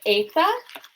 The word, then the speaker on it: eta: Eta is, this is a long E sound. So in Latin, our long E, right, with that line over that micron, is an A sound. So this is more of an A sound.